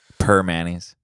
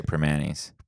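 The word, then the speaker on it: Primanti's: night yeah per mayonnaise per Manny's that's how you say it really yeah I always say primantis primantis for Manny's yeah I think the real yensers say per Manny's okay per Manny's um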